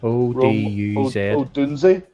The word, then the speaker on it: Odunze: I think it's Oduz. Odunze? Yes. Odunze?